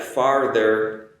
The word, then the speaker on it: farther: And also be aware that farther is not the same as father, like mother, father. The pronunciation is different there as well because I have an R in there.